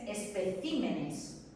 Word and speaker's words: especímenes: El plural de espécimen es especímenes. ¿Lo veis? Ha cambiado la sílaba tónica.